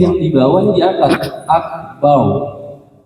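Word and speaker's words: أكبر: Akbar. Akbar bukan akbar. Akbar itu kalau kita nyebut nama orang. Tapi kalau dalam sholat, dalam membaca Al-Quran, hukum ro itu dia dibacanya tebal. Kalau misalkan didahului fathah atau dhammah.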